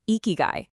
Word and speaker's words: ikigai: First off, it's pronounced ikigai, and the true definition is astonishingly simple.